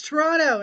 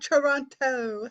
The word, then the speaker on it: Toronto: but you can say it both ways it's Toronto not Toronto that was the first thing actually uh my